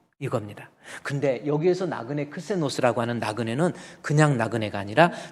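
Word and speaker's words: ξένος: 여기서 크세니안이라는 것은 손님이 머무른 방인데 그 손님은 크세노스라고 하는 단어의 어근이 같습니다. 크세니안, 크세노스라고 하는 거. 뱀꼬리 같이 막 돌아간 거 있죠? 이게 크시라고 하는 거예요. 크시. 이게 그래서 CH 발음 크시에서 크세노스 이렇게 읽는 겁니다.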